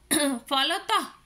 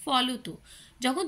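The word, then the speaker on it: ফলতঃ: ক্রমশ ক্রমশ যে কথাটা আমরা বলি ক্রমশ ফলত আমরা বলি ফলতু যখন তোমরা সংস্কৃত পড়ছো তখন কিন্তু তোমরা ক্রমশয় বলছো ফলতয় বলছো কারণ তখন সংস্কৃতের ব্যবহার হয় কিন্তু যখন এটা বাংলাতে প্রবেশ হয় তখন উচ্চারণের জন্য বিসর্গ গুলো বর্জিত হয়ে গেছে এর ফলে অহ যোগ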